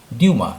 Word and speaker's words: Dumas: ये 19वीं सेंचुरी की बात है, जब एक बहुत बड़े लेखक, उनका नाम था अलेक्जेंडर ड्यूमा, जिनका कि स्पेलिंग तो DUMAS है, लेकिन उच्चारण है उसका फ्रांस में ड्यूमा, अलेक्जेंडर ड्यूमा।